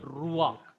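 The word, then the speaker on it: רוח: Whenever this furtive pathak comes under the guttural, that cannot form a syllable. That is not counted. For example, the word ruach. Here it is noak. So this ak, this pathak is pronounced first.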